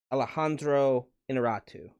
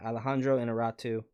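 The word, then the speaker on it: Alejandro Iñárritu: Alejandro Inarritu. Yeah, Alejandro Inarritu.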